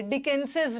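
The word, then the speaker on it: Dickens's: जो word last में स से खत्म हो रहा है वहां सिर्फ अपोस्ट्रोफी का साइन देके छोड़ दीजिए, बट प्रोनाउंसिएशन अपोस्ट्रोफी के साथ ही करेंगे। डिकेंसेस नॉवेल्स, डिकेंसेस, जैसे किसी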